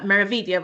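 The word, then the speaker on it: Meraviglia: Uh we get a lot of misprononunciations for meia. So you don't pronounce the G.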